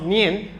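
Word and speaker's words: 念: If you can read these words, of course, it's pronounced nian, but it's a combination of two characters.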